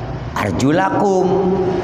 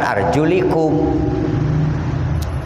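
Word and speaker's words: أَرْجُلَكُمْ: Sebab kita baca Qur'annya arjulakum, bukan arjulikum.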